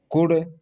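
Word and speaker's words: could: देखिए डी से पहले यानी सी ओ यू एल डी, कुड, क्या है यहाँ, एल साइलेंट है, ठीक है।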